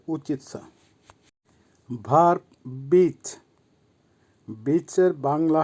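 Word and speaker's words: учить: করা বা স্টাডি করা আবার বলছি উচ্চারণ হবে উচিত ভার্ব বিচ বিচ এর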